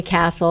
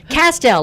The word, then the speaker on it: Kastel: They always call me Castle or Castile or I don't know, whatever they call me. But it's Kastel, like pastel with a K.